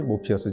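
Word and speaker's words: Morpheus: 주인공 가운데 한 사람이 모피어스 줘 뭐 피어스는 모르페우스 를 영어식으로 발음한 것입니다 그리고 어양동 잎 열매의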